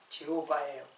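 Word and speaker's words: Jehovah: 이제 우리는 여호와인데 사실은 발음은 제호바예요.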